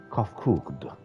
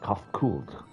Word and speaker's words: Kofkugd: As for the nomenclature to address my individual person, I believe it would be pronounced Kofkugd. Yes, Kofkugd, of the ear.